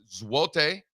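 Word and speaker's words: złoty: Uh throw up the zlotti. Shout out Zlotti. Uh properly pronounced zote zote.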